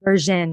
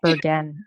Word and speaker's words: Bergen: You want it to be Bergen, rhymes with virgin. It doesn't. It's Bergen, hard G.